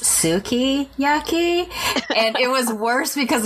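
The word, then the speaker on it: sukiyaki: the being in her restaurant and I ordered yaki and I was told that it was actually it's pronounced Suki yaki and it was worse because of the accent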